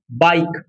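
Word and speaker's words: bike: उसी प्रकार हम देखिए यहां पर बताया है बाइक।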